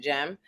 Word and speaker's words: Cem: can be quick with jeem jeem is is um Stanberry ex-husband a Turk that's why you spell it cem and pronounce it gem um and I don't